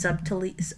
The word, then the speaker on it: subtly: Oh, I mean, it still happens in America, just subtly. Oh. You're pronouncing the B in subtle.